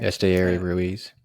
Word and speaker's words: Esteury Ruiz: Esteury Ruiz.